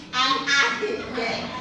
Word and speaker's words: AI: Ibu minta kesediaan empat orang. Hubungkan pekerjaan dengan alat yang mereka gunakan. Yang pertama alatnya apa sih? Blender. Yang kedua kamera. Kamera ai bacanya bukan i ai.